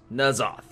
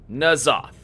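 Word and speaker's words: N'Zoth: Yes, that is the way that I guess in the common tongue or in the language that our characters speak in game, it is pronounced En-zoth.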